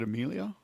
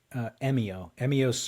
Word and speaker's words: Emio: How do you pronounce his first name? Is it Emilio? Emio Emio.